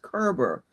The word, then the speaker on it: Koerber: He is um you see how his name is spelled but it's pronounced Kerber. Bruce Kerber is a horiculturist/economist who lives in Cedar Rapids, Iowa.